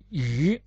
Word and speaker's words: 魚: That means the pronunciation of character fish is yu.